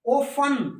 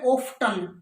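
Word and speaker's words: often: तो इंग्लैंड वाली बोलनी है, वो उसकी स्पेलिंग चलेगी हेसन, जल्दी, ओफन, ओफन, और अमेरिकन में ओफ्टन, देखो अमेरिकन में तो ओफ्टन और ब्रिटिश में ओफन।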